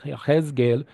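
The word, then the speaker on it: יחזקאל: know came to Yahgel yeesgel is how you pronounce Ezekiel's name in Hebrew in reality he was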